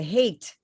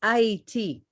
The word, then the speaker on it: Haiti: Because Haiti, they changed the name to Hate for a reason, but it's pronounced Haiti.